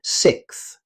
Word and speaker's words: sixth: This word contains one of English's most difficult consonant clusters. Native speakers say sixth.